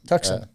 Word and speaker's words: Tucson: Tucson. Tucson is how the locals pronounce it.